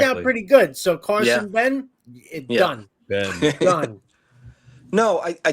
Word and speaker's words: Benge: it to be pronounced Ben now. Ben. So it's a silent G. Yeah, silent G. Okay, Carson Apparently, Ben.